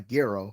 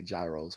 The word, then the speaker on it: gyro: Like, that was the first time I ever had um had um a a gro or gyro, whichever one, whichever way you prefer to pronounce it.